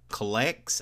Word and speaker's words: Clex: The next one is called Clex, I think that's how you would pronounce it, C-L-E-X.